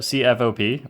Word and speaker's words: CFOP: save some time So C-F-O-P Pronounced CFOP is the most popular